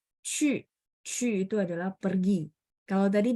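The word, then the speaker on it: 去: Oke, cu nada 4 dan mulutnya harus setengah bulat bacanya biar lafalannya tepat.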